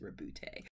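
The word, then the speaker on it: Roboute: was like oh because I kept saying robot it's not robot it's it's rebute anyway rib lute Gilman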